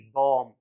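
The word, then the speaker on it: bomb: पढ़ते हैं बॉम बम इसमें भी बी का साउंड नहीं होता माय यलर बम बम नहीं बम फिर टी ओ एम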